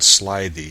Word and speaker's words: slithy: Toves the i' in slithy is long as in writhed and Toves is pronounced